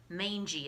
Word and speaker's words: mangy: hair, a mangy tail, look at that word, mangy is how you say that, and whitish patches on its face that gave it a clownish look.